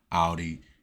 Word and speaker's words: Audi: Brands like BMW Porsche Audi you know what I'm saying and yes that's your correct uh pronunciation of these cars is Porsche not Porsche you know and it's Audi not Audy you know what I'm